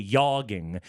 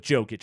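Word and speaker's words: Jokić: that right so you're you're willing to adapt to some Serbian pronunciation but not all of it apparently a bridge too far to go with the soft J yogging he just he couldn't go there he had to go with jokic I know he did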